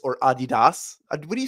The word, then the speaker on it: Adidas: I think it might actually be Adidas, but we've all Americanized it to Adidas, which I definitely am an Adidas person.